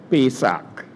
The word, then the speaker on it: Pesach: When you Google the pronunciation, you get about 2 or 3 different pronunciations. I had to use Google Translate to get Pesach.